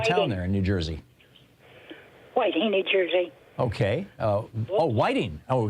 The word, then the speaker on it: Whiting: Whiting, New Jersey.